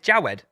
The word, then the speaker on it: Jawed: It's Jawed. It's j a w e d. Jawed, but you're just saying it wrong.